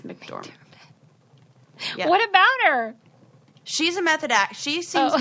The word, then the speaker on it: McDormand: mcdormand yes francis and i always call her mcdermott but that's not it's mcdormand what about her she's